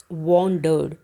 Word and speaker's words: wandered: तो सबसे पहले है WANDERED, वॉन्डर्ड। देखिए हमेशा W की जो स्पेलिंग होती जो उसका जो साउंड होती है उसको वो बोला जाता है व, नॉट व।